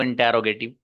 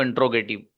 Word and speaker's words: interrogative: किसी ने पढ़ा इसको इंट्रोगेटिव, उन्होंने भी सही पढ़ा है। What is the correct pronunciation? The correct pronunciation of this word is इंटेरोगेटिव। इंटेरोगेटिव, इंटेरोगेटिव। जो हाफिज महमूद ने तकरीबन सही पढ़ा था।